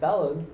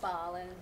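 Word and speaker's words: Belen: did two very bad dumb things a we pronounced the name of the town wrong yes b-e-l-e-n is not balan it is balance it's bob we had a dime for every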